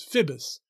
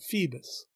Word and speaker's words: Phoebus: funnier the fact that bottom is mispronouncing apollo's name as phibis instead of phoebus consonants refers to the